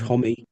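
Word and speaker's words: Homme: Uh, uh, Josh Holm, I can take or leave. Josh Homie to pronounce it correctly.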